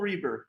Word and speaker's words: Reber: Today, we have an incredible new guest, an art lover and collector, Reber, is that how we pronounce the last name? Yeah, Reber.